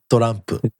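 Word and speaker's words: トランプ: Pronounced in Japan, torampu.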